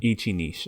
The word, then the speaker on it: Ichi Niche: to pronounce it uh Ichi Niche is fine Ichi Niche okay that's how you're supposed to say it right Ichi Ichi I